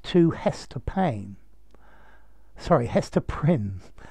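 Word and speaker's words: Prynne: hester payne sorry hester prin a name that deliberately rhymes with sin prin sin who is the protagonist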